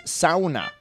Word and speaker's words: sauna: leave until I pronounced sauna correctly. Clearly, I have a lot to learn. For the record, the correct pronunciation is sauna.